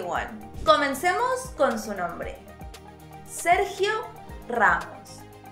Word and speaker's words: Sergio Ramos: Sergio Ramos. Again, roll those R's.